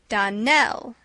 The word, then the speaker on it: Darnell: Darnell accent on the last syllable and St.